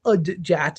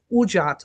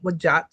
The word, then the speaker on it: udjat: As you can see here, I put the pronunciation guide in here because I feel like a lot of people say udjat. It's ujat or wajat, where they're putting the